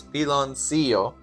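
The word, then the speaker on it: piloncillo: The pronunciation is pilon seio, which is makes sense.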